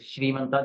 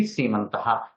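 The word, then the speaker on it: सीमन्तः: People think it is Srimanta, they pronounce like that. It is wrong. It should be Semantaha.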